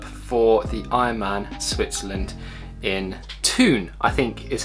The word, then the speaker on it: Thun: officially signed up for the Ironman Switzerland in Thun, I think is how you pronounce it.